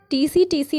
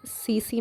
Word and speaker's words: tsetse: टीसी मक्खी निम्नलिखित में से कौन सा रोग फैलाती है। दोस्तों ये टीसी मक्खी नहीं है, सीसी मक्खी है। ठीक है, सीसी, जिसे इंग्लिश में प्रोनाउंस किया जाता है दोस्तों TSETSE।